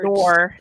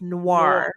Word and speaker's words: noir: by the way you you're not pronouncing the French right I'm not I'm never you saying Noir it's Noir I'm sorry French Noir